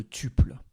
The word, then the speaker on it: tuple: fois ci on va parler de tubes notez que vous pouvez aussi dire topple si vous préférez une prononciation anglaise alors qu'est ce que